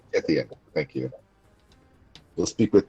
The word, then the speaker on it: Tithian: It's I can't pronounce his name. It's Tiffy. Tithian. Tithian.